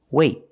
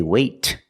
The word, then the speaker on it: wait: you have a vowel then we do a stop T that means you put your tongue up in the te position but you don't release example wait wait I don't say wait I don't release the tea it's a stop te I stop the air I stop the air